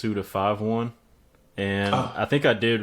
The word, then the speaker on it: Suda51: It's actually pronounced Suda51.